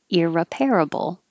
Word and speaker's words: irreparable: repairable repairable era parable so the only difference is the ir sounds like ear irreparable and this is reduced